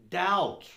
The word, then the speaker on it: doubt: first word here doubt it's more like davut but it's a david without a v so instead of davut we say doubt doubt yeah doubt is